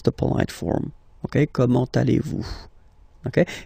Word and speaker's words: allez-vous: So the first question, how do you do in French is comment, so how, comment, allez-vous? And then, same thing here, little link between the two. Comment allez-vous?